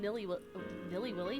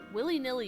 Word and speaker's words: willy-nilly: you can use them nilly nilly Willy hello willy-nilly is how you say that Spacey Spacey it is